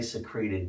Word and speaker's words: secrete: on certain pronunciations and most people say secret when they're hiding something uh when you secret but they insisted it was secrete so anyway um so